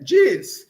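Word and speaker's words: ĝis: G chapéu pronúncia DJ. Diz.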